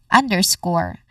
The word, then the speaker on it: underscore: And then final syllable is the stress syllable which is score. Again score.